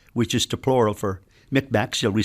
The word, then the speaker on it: Mi'kmaq: is the plural for Mi'kmaq, shall we say? Okay, yes. Every time you see that Q, you know that you must pronounce it with a guttural sound.